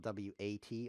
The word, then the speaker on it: Wat: Wat is spelled W-A-T on the internet. Everybody knows that. It's like this. Wat. That's how it's pronounced. Wat. It's kind of spoken through the nose because most people on the internet are nerds and they don't really speak properly.